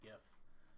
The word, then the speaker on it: GIF: And the movement style is going to be, let's see if we can find a GIF or GIF, however you prefer to pronounce it.